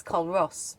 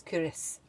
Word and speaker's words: Culross: I'll put a caption up because it's, if you want to say it logically, it's Culross, but it's not. It's Culross, apparently. But I think you have to have a Scottish accent to say it properly.